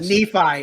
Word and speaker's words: Nephi: apologize for pronouncing is it nephi or nephi nephi it's nephi yeah sorry i butchered that name all the time look i'll